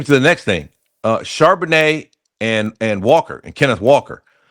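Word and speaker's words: Charbonnet: Uh, so Zach Charbanet or Charbano, I'm not sure how he pronounces it. Charbanet.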